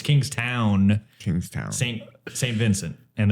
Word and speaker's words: Kingstown: got the capital it's Kingstown not to be confused with Kingston Jamaica Jama but it's kingst